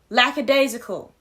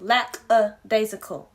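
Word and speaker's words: lackadaisical: being in Zion I'm going to pronounce the word correctly lack aacal and not wanting it bad enough he hinders himself it's lack aacal Zion not whatever the hell you said that day um the potential is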